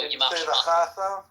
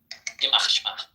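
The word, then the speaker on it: ימח שמה: No, I'm talking about you did Shemo, which is the standard phrase, but that refers to male. It would be Shema if you're referring to his mother. Oh, okay. Because I'm his father. Yeah, it depends if you're male or female.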